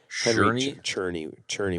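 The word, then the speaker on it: Czerny: Cherney would be the way to pronounce it.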